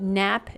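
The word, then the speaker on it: Knapp: anyway the joinery is called nap joinery that's spelled k n a p p and it's named after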